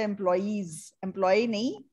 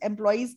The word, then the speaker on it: employees: the safety of the employees. Employees. Workers. Okay? आप workers बोल दो, वर्कर्स. एम्प्लॉयज की प्रोनाउंसिएशन ठीक नहीं निकल रही, आप एम्प्लॉय बोल रहे हो बार बार.